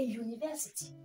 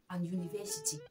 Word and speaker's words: university: Nous avons a university. Non, vraiment. Ceux qui ont l'habitude de dire an university, please, from today, comprenez que on dit a university parce que ça commence avec un son consonne et non un son voyelle.